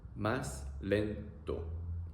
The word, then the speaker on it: más lento: Or you can ask people to slow down, which will be más lento. Más lento. A-e-o. A-e-o. Más lento.